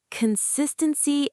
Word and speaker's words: consistency: Pronunciation tip, the stress is on the second syllable, consistency.